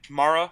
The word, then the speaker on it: Mara: type forrest mayor's hand mara's hand however you want to pronounce it m-a-r-a mara mara joe judge also had